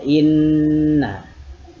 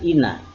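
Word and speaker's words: إِنَّ: Dengan mendengungkan bunyi nun yang bertasdid tadi. Karena gunnah itu artinya, arti gunnah itu dengung. Praktiknya bagaimana? Inna, itu contohnya inna. Beda dengan ina.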